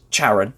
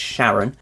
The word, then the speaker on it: Charon: it's pronounced Charon actually I think everyone just sees the CH and goes charrid but I believe it's Sharon it's thought of that's the